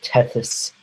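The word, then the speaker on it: Tethys: major inany is the I've only read it so I might be saying it wrong so teus ocean it's spelled uh t e t h Ys that was is a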